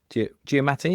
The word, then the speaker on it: Giamatti: Like the Prestige, Hugh Jackman, Christian Bale, and then the Illusionist, Edward Norton, Jessica Biel, and Paul Giamatti.